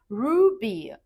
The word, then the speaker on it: Ruby: And then we have Ruby. Ruby is easy, just like the gemstone. Ruby. It's clear and simple. Ruby. Repeat after me.